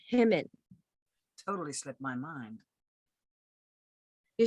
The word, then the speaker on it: Hyman: Donna, Summer, Joni, Mitchell, even Hyman. You You know it's pronounced Himmin.